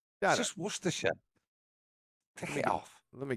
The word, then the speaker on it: Worcestershire: It's Shut just Worcestershire.